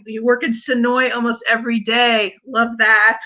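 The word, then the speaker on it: Senoia: And I noticed Frank and Tina saying you work in Sonoy almost every day. Love that, because that's a big area where The Walking Dead is filmed. It looks like it should be pronounced Sonoya, but it's Sonoy.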